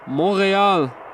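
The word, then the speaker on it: Montréal: YUL, Montreal, as they probably say. Oh no. Jean-Yves confirmed I was pronouncing it properly, so that is how the French-speaking people call the city.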